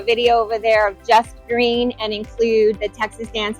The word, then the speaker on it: Gruene: It's in New Braunfels, but everybody knows it as Green, which is Gruene.